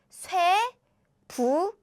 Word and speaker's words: 쇠붙이: These are pronounced as 치. So how you pronounce this word is 쇠부치. 쇠부치. 쇠붙이, metal things.